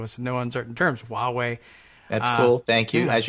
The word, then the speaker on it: Huawei: The Chinese mobile company name, Huawei, like Huawei, we're going to win. No, it's pronounced Huawei would be a better pronunciation. It is suggested here. It's not suggested. It's dictated to us in no uncertain terms. Huawei.